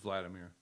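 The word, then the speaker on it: Hvaldimir: can pronounce this but his name is H valdemir it's just Vladimir vladim it's just Vladimir is how they pronounced it so um apparently he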